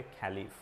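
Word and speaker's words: Caliph: इन लोग बोलते थे खलीफ, CALIF, LIPH, ठीक है, खलीफ, राइट, कैलिफ बोलते, कैलिफ ऐसा प्रोनाउंस किया जाएगा।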